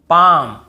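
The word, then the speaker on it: palm: डी एफ के एम डी एफ के एम इसके पहले एल हो तो हमें नहीं पढ़ना है। जैसे काम बाम पाम और यहां पे आमंड बहुत से लोग आलमंड ऐसे बोल देते हैं। बहुत से कालम बालम पालम नहीं होगा।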